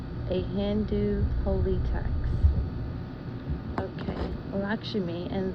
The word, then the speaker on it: Lakshmi: Okay, Lakshmi, and the pronunciation for this is Lak as in L-O-C-K, and then dash, Shimi as in S-C-H-M-E-E.